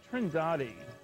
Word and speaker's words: Trindade: And here's a sequence from Trindade, I'm told it's pronounced, 600 miles east of the coast of Brazil.